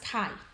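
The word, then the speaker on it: chi: Kai Square distribution Den note Kai Square pronounce Kai values of the kai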